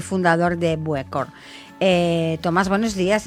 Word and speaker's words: Buëcor: empezar cuéntanos un poquito que es bucor no sé si lo pronuncio bien Perfecto perfecto Sí si es bucor y generalmente el nombre